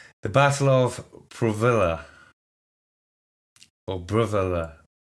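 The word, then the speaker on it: Brávellir: The Battle of Brovilla, or Brovilla. I would pronounce it Brovilla, as I would anglicize it as such, but it's a battle that you don't really hear about.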